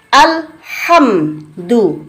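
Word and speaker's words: الحمد: Al, jelas lamnya. Ini hukum al-ta'rif, namanya al-qomariyah. Karena alnya terbaca jelas, dalam ilmu tajwid jelas tuh idhar. Jadi digabung idhar qomariyah. Alhamdu, mimnya ini juga jelas lagi.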